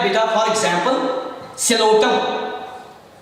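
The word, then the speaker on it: Psilotum: For example सिलोटम. सिलोटम पी जो है ये साइलेंट रहता है.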